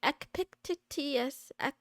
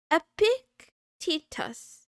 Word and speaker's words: Epictetus: Epictetus. Epictetus.